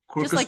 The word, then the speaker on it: Quercus: Quercus? Yep. Quercus the oak tree, right?